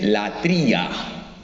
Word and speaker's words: latría: adora solo a Dios en griego la palabra adoración se dice la tría Cómo se dice adoración en griego latría y la idolatría significa